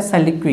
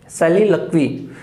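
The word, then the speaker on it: soliloquy: पहले बात करते हैं सैलिक्वी की, सैलिलक्वी, नॉट ए सोलिक्वी, सोलिलोकी या जो भी प्रोनाउंसिएशन आप बोलते हो, सैलिलक्वी है इसका प्रोनाउंसिएशन।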